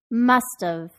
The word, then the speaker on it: must've: Remember that because have now begins with a vowel sound, you should connect your speech and pronounce the t in must at the beginning of, tuv, must have.